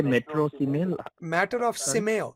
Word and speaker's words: Simeio: Matter of Simeo. Simeo was the company.